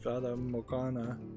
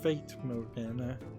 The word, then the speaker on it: Fata Morgana: if the House of Fata Morgana, which I think I've been mispronouncing as the House of Fate Morgana.